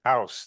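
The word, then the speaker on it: Aarhus: town in Denmark called if I say it right Aus I like this guy says house that's an easy way of saying it it's west of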